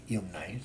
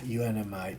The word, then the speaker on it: UNMI: not even with yumai it's good unmi uh I don't know why I pronounce it yumai now but uh unmi because the plant production